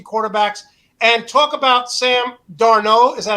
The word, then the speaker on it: Darnold: And talk about Sam Darnold. Is that how you pronounce it, Brad?